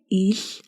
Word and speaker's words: Л: The way you pronounce Mongolian il is closest to English letter F. If you can pronounce letter F, then you can pronounce letter il. It's like you pronounce the English L, but in a voiceless way.